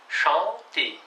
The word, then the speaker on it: chanter: чтобы не было manger, chanter, penser. Переводится chanter, manger, penser. Еще раз разница. Manger, penser, chanter. Там нет никаких «н».